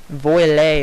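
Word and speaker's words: voilà: You don't say voila. It's like voile or something, and it's French.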